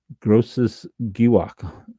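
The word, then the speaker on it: Großes Gewächs: Uh but gross uh giwok giwok or giwwok grosses giwwok g r o ss e s gross and giwwok or giwok ge in German most harder sounding g's ge wa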